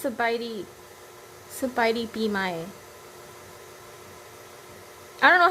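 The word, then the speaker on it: ສະບາຍດີປີໃໝ່: Sabaidi Bimai.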